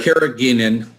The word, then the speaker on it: carrageenan: So we've got a lot of people asking about the how do you pronounce that, Dr.? Carrageenan.